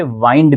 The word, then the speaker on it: wind: हमारी next example है WIND, इसे विंड भी पढ़ते हैं और इसे वाइंड भी पढ़ते हैं।